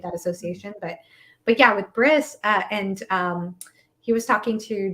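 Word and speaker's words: Brys: I say Briss, but I say Briss. If there's a choice between like regular human name like Bryce or like fantasy name like Briss, I always go with the fantasy name.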